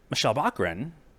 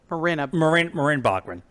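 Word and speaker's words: Morena Baccarin: And Michelle Bachmann. No, that's not how you say her name. Hold please. Hold, please. I have IMDb up. Marin Bachmann.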